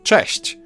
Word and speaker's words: cześć: Now Polish ch is a bit harsher than its English counterpart, but there's also a comparable softer sound, ch. You can hear both in the word cześć. English version falls somewhere in between those two.